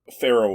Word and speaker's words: Pharrell: How do you pronounce it? Pharrell Williams.